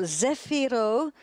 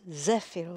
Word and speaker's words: Zefiro: burning the Z for Zefiro, second stage, and now about to switch on the Z9, Zefiro 9. My pronunciation is probably a bit wrong. I think it's Zefiro in Italian. Zefiro.